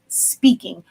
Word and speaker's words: Spinking: anonymous and honestly speaking spelt like our product line s-p-i-n-k-i-n-g but it's pronounced speaking or just say hs inc or team 365.